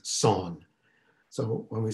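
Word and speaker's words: Seon: japanese pronunciation became zen the korean pronunciation is son so when we say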